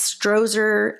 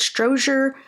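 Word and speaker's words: Strozier: to just the campus stroer I believe that's how you pronounce it stroer Campus library and he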